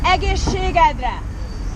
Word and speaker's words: egészségedre: Cheers, it's very challenging, 5 syllables. Oh. Cheers is egészségedre.